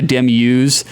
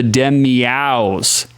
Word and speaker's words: Demiaus: It's not the Demius. I said it wrong for fucking 2 episodes straight. My brother was like, it's the Demiaus.